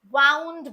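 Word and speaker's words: wound: तो वहां पर आप इसे वाउंड बोलेंगे।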